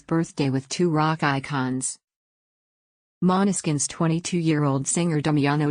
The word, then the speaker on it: Måneskin: word of that language and when the bassist pronounced monoskin everyone fell in love with the sound and